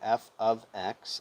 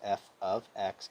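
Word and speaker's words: f(x): so they have a function f of x that's how you pronounce f parenthesis x and parentheses is f of x equals one-half times 32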